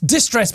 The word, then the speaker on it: Did Stress: It's distress, but it's spelled Did Stress.